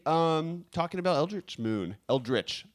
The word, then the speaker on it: Eldritch: talking about eldritch moon eldritch I've been told that I say it wrong as Eldrick yeah it's okay but